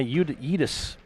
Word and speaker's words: Yeatis: And junior Eli Yeatis to shoot 2. Coach Barr said that's how you pronounce that young man's name.